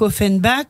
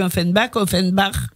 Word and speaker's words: Offenbach: On dit Jacques Offenbach, moi je dis Offenbach. Qu'est-ce que vous préférez? Alors c'est comme vous voulez, ça dépend à la prononciation, si vous la faites à la française ou à l'allemande.